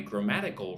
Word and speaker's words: grammatical: Gra-ma-di-cal. So 4 syllables. Put the emphasis on the second syllable. 1, 2. Ma. Grammatical. Working on my grammatical range.